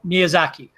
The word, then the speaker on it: Miyazaki: I don't know how to pronounce his name. Guy. Hayao Miyazaki.